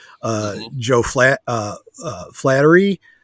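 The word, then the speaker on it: Flaherty: uh sc alum uh joe flat uh uh flattery flathearty thank you i could never pronounce that eugene levy and and harold ramis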